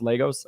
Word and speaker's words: Lagos: But it's looking like this guy in it's Lagos, pronounced Lagos.